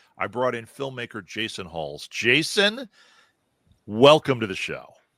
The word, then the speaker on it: Huls: I brought in filmmaker Jason Huls. Jason, welcome to the show. Thank you. Thank you for having me. I'm very happy to be here. Did I say your name right, Jason? Huls, yes.